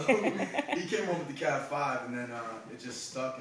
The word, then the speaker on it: DaCav5: I don't want to mispronounce it, so if you could say it. DaCav5.